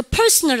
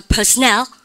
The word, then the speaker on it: personnel: 여러분 이거 personal 아니에요. 잘 보세요. 여러분들 N이 두 개죠. 발음 갖다 서 personnel.